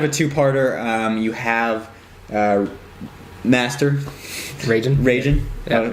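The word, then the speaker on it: Reigen: is kind of a two-parter you have master ragin ragin they have a ragin Cajun okay I got it I can pronounce it now ragin Cajun is he's on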